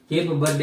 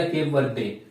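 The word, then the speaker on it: Cape Verde: केप बर्डे या केप वर्डे, जो अभी आप इसका प्रोनाउंस करना चाहते हो, प्रोनाउंसिएशन वैसा कीजिए। क्या है? केप वर्डे।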